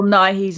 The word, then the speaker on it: Nye: i think it's bill nye it's pronounced the same as you know is it naive or is it nigh like bill nye the science guy you know okay i